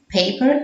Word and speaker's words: paper: The vowel says its name.